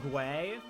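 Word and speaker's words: Guei: I know they're supposed to be pronounced like Gwei, but I think calling them gay is funnier. It's like, I am objectively wrong, but I don't care because it's funny.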